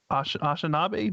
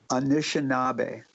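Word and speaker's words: Anishinaabe: was it that the ashinabe did i pronounce that right anishinabe anishinabe you know they they have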